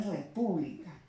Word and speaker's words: república: La siguiente palabra, la palabra república, ¿no? Lleva la mayor intensidad en la sílaba pu, ¿no?